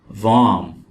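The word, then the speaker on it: warm: वार्म, वार्म, वार्म का मतलब है गर्म। और यहां पे हम आर को नहीं पढ़ेंगे, ये वर्ड है वार्म।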